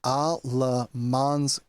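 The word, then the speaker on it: Alamance: I have looked up the pronunciation, and this is Alamans County.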